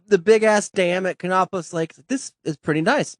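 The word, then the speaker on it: Kanopolis: even know how to pronounce the name of it. Cheney. No, it's sort of the K. Canopolis.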